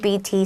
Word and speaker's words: doubt: 那 doubt 是 doubt，那个 b 可以打一个小叉叉，发音上要特别注意。那 there is no doubt that 主词加上动词就是毋庸置疑的，然后完整句子给它写下去就对了。